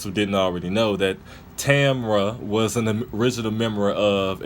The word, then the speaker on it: Tamra: if it's Tamra is TA MRA or I believe it spelled T up I believe it felt like Tamara but they pronounced her name Tamra so I'll understand how